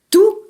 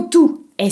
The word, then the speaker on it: tout: de manière très différente tout t o u t se prononce tout par exemple j'ai tout compris si le mot tout est situé devant un mot commençant par une voyelle vous pouvez le prononcer toute par exemple il a